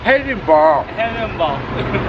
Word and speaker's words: Edinburgh: Aunque se pronuncia Edimburgo, No, es Edinburgh.